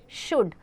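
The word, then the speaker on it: should: शुड। तो इसमें एल का प्रोनाउंसिएशन नहीं आ रहा है।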